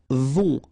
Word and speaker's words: vont: Right, then ils vont. Final T not pronounced, and then O and together, on, vont, okay?